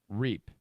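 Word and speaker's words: Reip: Ohio State football players, Amir, his name is spelled R-E-I-P. I think it's Reap.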